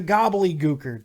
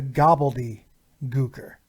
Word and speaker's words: Gobbledy Gooker: the greatest crime is nobody ever pronounces his name right every time you hear the name it's always the gobbly er that's not his name it's the gobbledy er something else you might